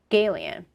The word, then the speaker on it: Galion: And we were filming in a town called Galion. I believe that's how you pronounce it. But haha, it sounds like gay alien, That was a running joke that everybody on the set was talking about.